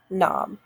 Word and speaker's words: knob: that we know that that's a silent k we know not to do that knob all right now this